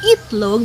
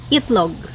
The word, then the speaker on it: itlog: E into e only so the word it log should be served as should be pronounced as eat long because it started letter I but we pronounce that as it long you cannot really see you can't really find a local person who will say no we just say eat log eat log and that